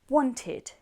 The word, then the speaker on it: wanted: For example, want, wanted becomes 2 syllables. So this ed sounding is id.